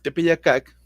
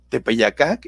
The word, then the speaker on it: Tepeyácac: había para ellos el tepeyácac de éste no sabían cómo pronunciarlo tepeyácac esta es la palabra en náhuatl en el lenguaje de